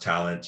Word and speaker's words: Tallant: i'm not exactly tall it's pronounced talent and spell and in